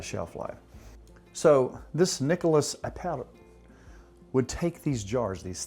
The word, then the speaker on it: Appert: A fellow by the name of Nicholas Appert, A-P-P-E-R-T, I'm trying to pronounce it like my buddy Raul would.